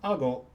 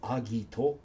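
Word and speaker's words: 顎: An ago with the outspoken leaf or page, alternately pronounced agito or gaku, is a jaw or a chin.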